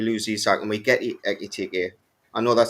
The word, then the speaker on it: Ekitike: But we already in the fight for Ekitike, and that's how you say it. People. Yabrowski is making fun of me. It wins disciple because of how I say. I'm saying it properly actually. Ekitike, and I'm not.